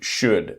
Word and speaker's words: should: The same three words would, could, should, the L is silent.